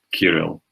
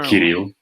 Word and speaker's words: Kirill: And by the way, the name is pronounced Kirill or Kirill in Russian.